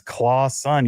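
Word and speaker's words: Clawson: anyone wants to know how to pronounce my last name it's claw son yes he's the son of the claw that is forever will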